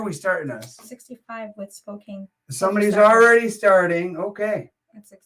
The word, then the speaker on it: Spokane: He says Spokane.